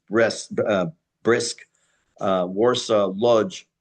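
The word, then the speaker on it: Łódź: Uh names like should sound very familiar, Zhytomyr, Berlin, Brest-Litovsk, which is Brest, uh Brisk, uh Warsaw, Lodz, pronounced actually Wuj, Kielce, um these names will become, unfortunately, much more well known in World War II.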